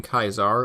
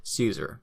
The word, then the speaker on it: Caesar: or in German Kaiser from the Latin kaizar or as we more commonly pronounce it Caesar this decision later paved